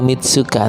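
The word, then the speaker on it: 三日: Oh, Shichigatsu sang nichi ni atau Mitsuka ni Nihon e ikimasu. Ya, tulisannya itu memang sang nichi tapi dibacanya Mitsuka.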